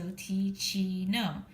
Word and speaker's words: Teeccino: And they have this cute little flap that says, Psst, Teeccino rhymes with cappuccino. So Teeccino.